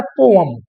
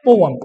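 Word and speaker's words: poem: इसको पढ़ा जाता है पोयम क्या पढ़ते हैं पोएम इसको हम पढ़ते हैं पोएम लेकिन बात यही है कि वी आर इंडियंस और हम लोग के इंग्लिश बोलने में थोड़ा सा उच्चारण का फर्क तो हो ही जाता है ठीक है ना तो हम लोग इसको पोएम ना पढ़ के पोयम पढ़ देते हैं कोई बात नहीं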